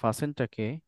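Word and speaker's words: fasten: এখন যদি আপনি এই ফাসেনটাকে এটা মনে হয় আমেরিকান ইংলিশে এটা ফাস্ট হবে কিন্তু ব্রিটিশ ইংলিশে ফাসেন না না সব ইংলিশেই দুনো ইংলিশে এখানে টি আসবে না ফাসেন অফেন আর অফটেন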